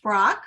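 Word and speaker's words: Braque: to say it French George Brock which is the English pronunciation and Pablo Picasso also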